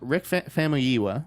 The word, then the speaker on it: Famuyiwa: Where Rick Famuyiwa, which I have learned to pronounce, the director of Dope, has landed The Flash, taking over from Seth Grahame-Smith.